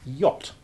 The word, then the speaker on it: yacht: That it is not sounded at all in the word yacht.